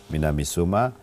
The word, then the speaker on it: Minamisoma: si c'est correct la Oui, prononciation, oui, des Minamisoma.